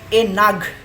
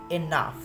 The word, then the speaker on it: enough: GH থাকলে সেটি ফ এর মতো উচ্চারিত হয়, যার ফলে এ নাগ না হয়ে আপনারা দেখতে